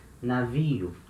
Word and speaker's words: navio: Navio. So letter N at the beginning of a syllable, it has the same sound as letter N in no, for example, in English.